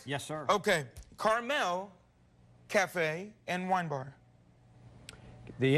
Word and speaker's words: Carmel: the name restaurant is Carmel Cafe and Wine Bar it's not the little candy at all it's like the place in California Terry Ryan am I correct yes sir okay Carmel Cafe and Wine Bar